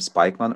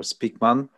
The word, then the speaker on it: Spykman: the focus on mckinder spike one or speakman depending how you pronounce the guy's name and canon and we